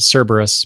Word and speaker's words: Cerberus: I usually pronounce it Cerberus, but I'm probably wrong about it. That's right. That's how you do it.